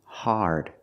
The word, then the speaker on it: hard: The word is pronounced hard. It's an open sound, R, connected to the R, like when you say car and far.